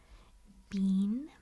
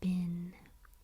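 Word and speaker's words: been: But the two common pronunciations are bean, bean, and bin. Ben, bean or bin.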